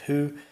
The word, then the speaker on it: who: Previously here, as well as with who, the H is silent.